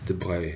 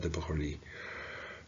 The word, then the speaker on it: de Broglie: The Broglie's, it's De Broglie in proper French, not De Broglie. It's a bit of a Swiss South French pronunciation.